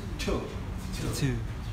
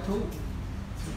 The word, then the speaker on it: two: Ví dụ như số 2, ta sẽ đọc là Two. Không phải thu.